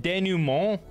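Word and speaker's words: dénouement: Is it denouement or is it denouement? I almost feel like it looks like a French word. For some reason, I wanna pronounce it in a French way, but I'm probably just wrong.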